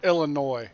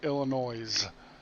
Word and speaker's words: Illinois: It's Illinois, not Illinois. Illinois is the way we pronounce it in New York.